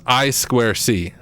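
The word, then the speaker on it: I²C: communication uh let's see oh it's pronounced I Square C it looks like i2c for for what it's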